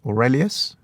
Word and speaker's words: Aurelius: Aurelius? Yeah, I think that's how you say his name.